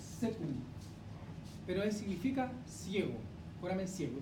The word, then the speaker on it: caecum: También se le denomina, o ustedes lo van a encontrar como caecum, y se pronuncia secum, pero significa ciego, foramen ciego.